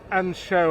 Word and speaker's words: Anseo: It's spelled Anseos in English, not pronounced like that, of course, and I believe they do a pretty mean pint of Beamish, and of Guinness as well. Right, Muttonistas, pub 3. And show, I believe it is pronounced.